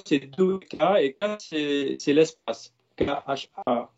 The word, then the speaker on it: dukkha: Et dukkha, c'est deux syllabes, c'est dukkha, et ka, c'est l'espace.